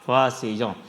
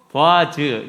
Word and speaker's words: 보아스: 그 중에 한 가지가 이제 야긴과 보아스이죠. 히브리어를 그대로 읽어보면 야킨이에요. 야킨. 그리고 보아즈, 이것을 이제 영어로 옮겨서 다시 오니까 야긴이 되고 보아스가 되고 이렇게 이제 발음이 되는 건데요.